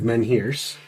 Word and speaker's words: menhir: I'm going to pull the blueprints I got from Paige about the erection of menhirs out of the bag of Oh, holding. erection of menhirs.